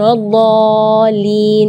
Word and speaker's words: waladdallin: Jadi membacanya waladh 6 harakat. Terus setelah waladh di situ ada huruf lam yang ada di atasnya ada tasydid. Itu seringkali ketinggalan waladhdallin. Nah, itu berarti tidak ada tasydidnya.